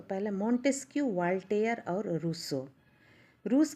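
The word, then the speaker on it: Rousseau: Monte skew Voltaire और रूसो रूस की प्रसिद्ध पुस्तक का नाम क्या है रूसो की रूसो रूस नहीं रूसो यह जो दार्शनिक है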